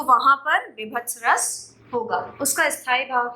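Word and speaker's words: वीभत्स: से लिखा हुआ है, विभत्स लिखा हुआ है, या हम उच्चारित करते हैं, वो बिल्कुल गलत उच्चारण है। सही उच्चारण विभत्स है, ठीक है, जिसका स्थायी भाव है जुगुप्सा।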